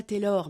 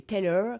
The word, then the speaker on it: Taylor: Alors elle prononce pas Taylor mais Taylor comme les Anglais.